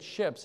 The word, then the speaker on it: SHIPS: SHIPS is, I don't even know what the heck SHIPS stands for. Simple Hierarchies in PowerShell. It's very important to pronounce the P, SHIPS.